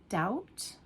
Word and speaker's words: doubt: B as in doubt. Doubt or thumb. Thumb. You're not saying the B, okay?